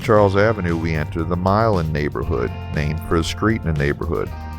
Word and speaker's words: Milan: The neighborhood has several other streets named for European cities such as Jena, Marengo, and Berlin, but Milan, or should I say Milan, has that unique New Orleans pronunciation often applied to street names.